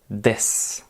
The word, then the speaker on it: です: c'est des alors oui c'est écrit d ce mais le ce final on ne va pas le prononcer ça va donner des des c'est l'équivalent de